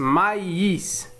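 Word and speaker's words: maïs: إذن نقرأ أولا ما إيس مايس، ثم الكلمة الثالثة أم بي gu ambigu.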